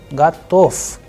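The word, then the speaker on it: готов: Then the sound of ve changing into f, gatof, gatof.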